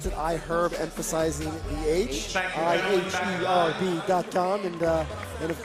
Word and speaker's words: iHerb: I am told that I had supposed to pronounce that I herb emphasizing Dom and then of course folks at